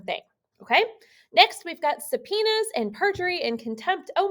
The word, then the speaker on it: subpoena: a trial okay so first we've got a subpoena and i know that's not how that word looks but that's how it's pronounced so a subpoena is